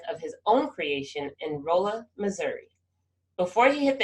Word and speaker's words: Rolla: Ken, I have been wondering for a long time, how did you get to Rolla, Missouri? Oh, well, see, it's Rolla. Rolla. You're right. That's English for, people just pronounce stuff different in different places.